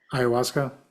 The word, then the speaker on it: ayahuasca: There's Isn't there like a really super intense one, even more than how do you pronounce it? ayahuasca.